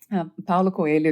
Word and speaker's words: Paulo Coelho: I'm not sure if I'm pronouncing his last name right. Coelho. Paulo Coelho, yeah, it's a Brazilian writer, right?